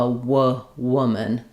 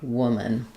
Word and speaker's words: woman: Um, it's it's the same as in would you talk to a wwwoman. Um, so the vowel is the uh sound. Woman. One woman. Um, another vowel that's another word that has the same vowel is good. So that might help you. Good w good woman. And then just really here trying to have no vowel there versus women.